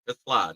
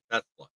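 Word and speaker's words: TeSlaa: We know where Tesla, let's say it right, it's Isaac Tla, not Tesla.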